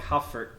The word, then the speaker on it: HU4D: HU4D is said like Hufford.